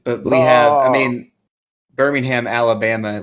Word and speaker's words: Birmingham: word it's just that we don't say the H for some reason Birmingham